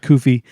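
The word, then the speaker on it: Cuffee: the is a coffee with koofi coming in she pronounces it coffee coffee okay uh they come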